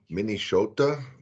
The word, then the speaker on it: Minnesota: Minnesota is how we pronounced it. The S is like a SH.